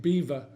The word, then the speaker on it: Belvoir: in the Vale of beaver spelt Belvoir but definitely pronounced Beaver so don't let me